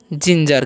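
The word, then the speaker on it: ginger: क्या पढ़ेंगे इसे हम पढ़ते हैं जिंजर क्या पढ़ते हैं इसे जिंजर ओके क्योंकि यहां पर जीई है तो यहां पर जी का जो उरण है ज हो रहा है ठीक है तो इसको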